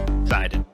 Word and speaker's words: Sinden: Sidon. The Sidon light gun. Today we've got Andy with us. Andy, thank you for joining us. This guy right here, Sidon. Sidon or Sinden?